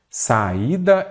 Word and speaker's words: saída: sílabas saída olha aqui neste caso aqui eu tenho um iato O que é iato mestre e at é quando eu tenho duas vogais mas em sílabas diferentes eu acentuo o i